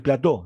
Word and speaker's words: plateau: Ah, ¿qué significa plató? Es plateau, se escribe, ¿eh? Y y es la presión meseta, presión plateó, plateau, que es plató, se escribe, se se dice, ¿no?